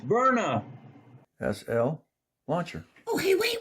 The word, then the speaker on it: Byrna: And we are doing the unboxing of the Barna. Pronounced Verna SL launcher.